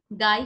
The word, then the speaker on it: গাই: গাই হচ্ছে গ অল্পপ্রাণ, ঘাই আবার ঘ মহাপ্রাণ। গাই, ঘাই।